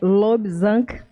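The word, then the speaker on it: Lobsang: Não, existe um autor espiritualista cujo nome é Lobzang, com G no final mudo, Rampa, com R, que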